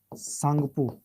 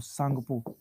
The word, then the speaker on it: Tsangpo: पहला सांगपो, स्पेलिंग लिखेंगे TSANGPO, सांगपो, या यारलुंग जांगपो, या यारलुंग जांगपो।